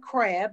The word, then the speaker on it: Crabbe: an introduction so uh my name is krab yes with the silent e uh that name gets